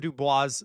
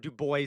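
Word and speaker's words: Du Bois: I've read like all of Dubois stuff, or Dubois stuff, however you want me to pronounce it.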